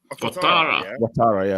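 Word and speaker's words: Ouattara: First of all, I've forgotten how do you pronounce his name? Dango Watara. Watara, yeah.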